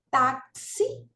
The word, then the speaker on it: táxi: vogais i e u então nós temos taxi tá taxi ó é uma palavra paroxítona tá terminada em I né paroxitona porque a sílaba tônica é o que ó tá a penúltima Então veja que o acento É aqui na penúltima sílaba táxi terminado em I dand